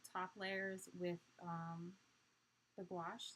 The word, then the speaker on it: gouache: can't pronounce orange yeah gouache is another funny one like wash wow squash gosh yeah